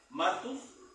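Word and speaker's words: μάρτυς: En el griego la palabra es martus. Acento en la A, martus.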